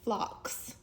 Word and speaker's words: phlox: thought that they were pink, and they're actually pronounced phlox.